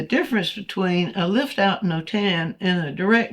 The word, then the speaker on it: Notan: So it's no tan, not it's spelled N O T A N.